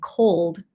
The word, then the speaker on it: cold: me Teach Me So for code c o l d for the L yeah try to feel the tip of your tongue hitting the roof of your